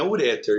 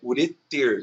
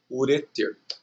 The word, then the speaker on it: ureter: Então Gibraltar é uma oxítona e também não é uréter, é ureter, que também é uma oxítona, tá?